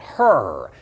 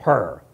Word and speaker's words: Hur: In Hebrew, it is the particular Hebrew letter that has that little bit of a guttural sound. We might even spell it with a C-H, like we do the place across the street, Chabad.